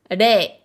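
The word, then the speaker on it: 零: Ça va être le kanji qui se prononce rei.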